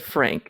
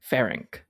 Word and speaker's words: Ferenc: You kind of did, but you said Frank, and it's Ferenc.